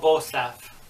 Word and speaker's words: Bostaph: And of course, Paul Bostaph, that's how you pronounce the guy's name, who of course later joined Slayer.